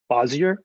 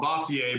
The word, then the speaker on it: Bossier: The town's supposed to be called Bossier, but no one pronounces it the right way. We all just, Louisiana down it to Bossier to make it sound real easy and Southern.